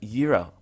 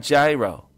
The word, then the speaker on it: gyro: euro all right and notice I pronounce it Euro it's not gyro Euro all right here